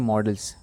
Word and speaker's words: modals: सो बच्चों, इसमें ध्यान देने वाली बात यह है कि MODELS को क्या बोलते हैं, मॉडल्स, बट ये क्या है स्पेलिंग, MODALS। सो इसका जो प्रोनाउंसिएशन है वो क्या हुआ, मॉडल्स।